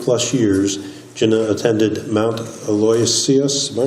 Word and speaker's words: Aloysius: professional for 20 plus years Jenna attended Mount Aloisius my pronouncing that correctly Thank You Aloysius Thank You PA and as a Dale Carnegie